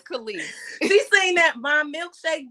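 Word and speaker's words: Kelis: What's her name? Khalees. It's Khalees. I don't know what the hell her name is. He said Kellis. I'm like, who the hell is Kellis? Okay. It's Khalees.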